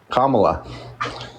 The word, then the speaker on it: Kamala: did you say her name was K La Kamala okay let's see I was close okay not